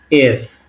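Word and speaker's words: С: ঠিক আছে, ইংলিশে যেটা আর বলি এস। সি কিন্তু সবসময় এই জিনিসটা ভুল হতো আমার নিজেরও, এটা কিন্তু সি না, এটা অ্যাকচুয়ালি এস। এস, রাশিয়ান এটা এস।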